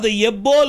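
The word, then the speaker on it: יִבּוֹל: आएगा अबड़ी प्रोनाउंस आना तो वो कैसे प्रोनाउंस होगा यबोल अप प्रोनाउंस वो यबोल ऐसा कहना है अब उच्द इसे जब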